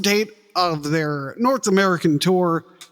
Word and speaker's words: Týr: It's Tour. Okay. We know how to pronounce it, but we're in America, so we're going to say Tear. Because it's too hard to say Tour all the time.